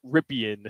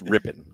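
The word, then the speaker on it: Rypien: with Tim Bole out Brett rippan it's ripping ripping you sure there's an i there I know how it's spelled but it's Mark ripping and Brett ripping yeah all right Brett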